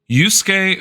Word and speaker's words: Yusuke: Yusuke Furusawa. I only know how to pronounce Yusuke because Yusuke is apparently a very